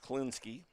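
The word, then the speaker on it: Kliniske: Pronounced Klinsky.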